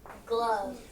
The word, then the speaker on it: glove: all right last word glove Circle g l o and the E is silent like in the word love all right so did